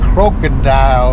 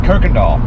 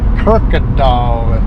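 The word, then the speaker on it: Kuykendahl: dadgum signs up there crocodile or something like that or how you say it it's kir doll Kirk doll and Buro bu yeah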